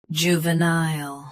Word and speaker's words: juvenile: Both US and UK have the same pronunciation of this word. Stress nile. Keep ju and va soft. Juvenile.